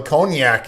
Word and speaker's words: cognac: We got eggs, sugar, half and half, whole milk, heavy cream, Jamaican rum, cognac, bourbon. Which is spelt really weird. Yeah. It's cognac. Cognac. The Q is silent.